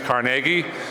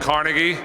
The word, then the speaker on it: Carnegie: you practice and look I say it a little different because I didn't grow up in Pennsylvania but I'll say it like Pennsylvania is Carnegie but in New York it's called Carnegie How do you get to